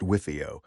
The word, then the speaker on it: WFIO: It's pronounced Wifio.